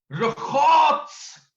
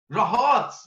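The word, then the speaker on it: רחץ: इब्रानी में ये लफ्ज रखात्स, ये बड़ा प्रोनाउंसिएशन में थोड़ा डिफरेंट है। रे खे अलिफ ते सीन, रखात्स या RHATS, रहात्स, ये इब्रानी जुबान में पुराने ऐहदनामे में ये लफ्ज इस्तेमाल हुआ।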